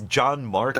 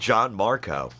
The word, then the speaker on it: Gianmarco: It's John Marco. Like John, Mark, O. But it's spelled Gianmarco. It's spelled in a way that makes me think Mediterranean, olives, beaches. It's more of the original Italian spelling and not the Americanized version.